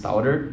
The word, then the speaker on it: Tour: Então é simplesmente eu aportuguesei a palavra, mas saibam que a pronúncia correta não é Tourer, e sim Tour, Versys X300 Tour.